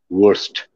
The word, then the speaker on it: worst: That day, I discovered, we noticed they couldn't pronounce the word worst.